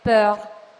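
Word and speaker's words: peur: proprio sulla paura e paura in francese si dice per cioè bisogna stringere la e per pronunciare mentre il nome padre in francese si dice per si deve aprire la e e a un certo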